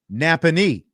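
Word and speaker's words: Nappanee: Napony is how you say it.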